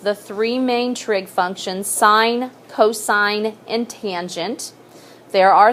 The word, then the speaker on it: sine: see it on your calculator is SI n but you do not say sin okay you you want to sound educated and you know that stands for sine okay so please don't ever say sin that just means that you don't even know what what the name of it is so sine is defined